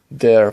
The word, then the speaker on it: der: Words use der pronounced der when they are masculine. They take die, pronounced die, when they are feminine, and das, pronounced das, when they are neuter.